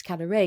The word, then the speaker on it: Kadare: Then I also went to Ismail Kadare's, in fact it's Kadare because the stress is on the last syllable, I learnt that, his house.